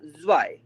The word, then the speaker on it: zwei: और ये 2 हो जाएगा zwei, zwei, ता सा वाई ई, zwei, zwei। ता का साउंड आएगा, फिर सा भी आएगा, बट ता का साउंड हल्का आएगा, सा का साउंड थोड़ा सा ज्यादा आएगा, तो zwei, zwei।